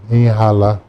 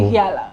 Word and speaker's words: Ihiala: Parents was born, raised here from Nigeria, Anambra, and Ihala. So, Ihiala, okay? yeah, again, the pronunciation.